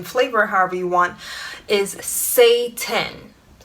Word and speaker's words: seitan: however you want is say 10 no not Satan the devil it's spelled s e i t a n say 10 and it's made from